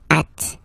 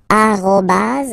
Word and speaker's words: arobas: people or French speaking people using this at okay uh but in the French of course at all right uh but officially it should be arobas okay so don't be